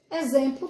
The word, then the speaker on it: exemplo: exemplo exemplar o exemplo exemplo também uma palavra que se escreve com x mas tem um som de z né por exemplo crucifixo quem sabe que